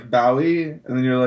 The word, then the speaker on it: Bowie: I thought it was like a bow, Yeah. Like on wrapping paper?